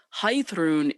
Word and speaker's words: Heiðrún: might take note that i pronounce the name differently of this magical beast than i pronounce my name and that's because high throne is the actual old norse pronunciation of this name but when i received